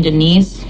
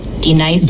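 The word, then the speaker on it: D'Nice: Do you mean Denise? Son of a bitch. You say your name right now. Denise? Say it right. Denise. Correctly. Denise. Right. Denise. Right. D Nice. That's better.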